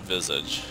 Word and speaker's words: Visage: pronounced and it's pronounced Visage with like the S says like a z sound yeah it's pretty cool